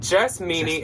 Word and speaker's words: Jess Meanie: Jess Meanie, it's spelled like meanie, like you're a meanie.